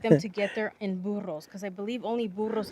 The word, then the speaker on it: burro: Like, how long would it take them to get there in burros? Because I believe only burros can go down there, right? I like how you roll your R's.